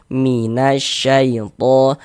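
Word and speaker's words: من الشيطان: Jadi dari na langsung masuk ke huruf syamsiyah ini. Minasyaitan. Jadi, huruf huruf alif lamnya ini dia enggak dibaca.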